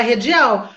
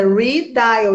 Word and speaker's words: redial: Todo mundo fala redial, mas está em inglês, é redial, igual o repeat.